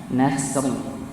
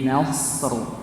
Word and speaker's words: نصر: Jadi jangan lupa ya, untuk ayat pertama jangan sampai kita bacanya nasr, tapi nasr pakai huruf shad ya, bukan huruf sin.